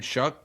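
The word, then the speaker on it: Shough: one too, is I forgot who's running the show now, and it's an offensive head. It's Kellen Moore. They liked what they saw. What is it? How do you pronounce his name? Shove?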